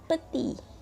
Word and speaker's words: petit: grand2 Pi dibacanya gram sedangkan kalau ke pendek tulisannya pethit tapi dibacanya peti ilegal RAM gile peti